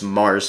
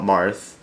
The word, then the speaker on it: Mars: And actually, the real way to say his name actually is Mars, not Marth.